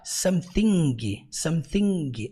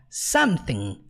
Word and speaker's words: something: para ressaltar é que toda e qualquer palavra no inglês que termina com i n g você nunca pronuncia a letra g então você não fala Samsung não você fala como something ressaltando também que nós